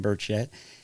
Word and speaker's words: Burchett: This this gentleman Tim Burch, I always say his name wrong, but this gentleman Tim Burchett, he was uh the gentleman who was in